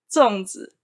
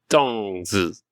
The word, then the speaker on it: 粽子: How do you pronounce it again? 粽子. Can you say it one more time? 粽子. 粽子.